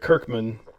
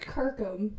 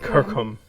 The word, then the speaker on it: Kirkham: Rick Kirkman, self-producer, Joe Exotic Been saying TV. his name wrong. Do that man some justice. Rick Kirkham. Rick Kirkham.